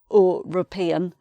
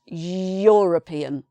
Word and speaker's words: European: And the answer is that when you pronounce this word, you're making a y sound. So it's not European, it's European.